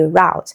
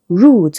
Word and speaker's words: route: Now, option D is pronounced root. I know you pronounce this word as route, but route is the American pronunciation. Root is the British pronunciation, right?